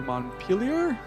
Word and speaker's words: Montpellier: Now we're going to go to Montpellier. I'm going to pronounce it like Vermont is pronounced.